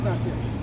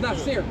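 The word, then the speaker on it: נשיא: it is Nasir. Okay, come on, I said it right. It's Nasir.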